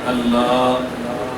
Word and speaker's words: اللہ: نے آہ رکھی ہے، آہ جب تک نہ ہو اللہ کا لفظ ادا ہی نہیں ہوتا۔ کوئی شخص بھی اللہ صحیح معنوں میں کہے تو پورے تلفظ کیا ہے؟ اللہ، ایسے ہی ہے، پورا تلفظ کیا ہے؟